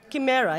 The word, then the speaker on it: chimera: The second one the shimera how do we pronounce it in English? Shimera or chimera. Kimera. Yeah. In France it's shime.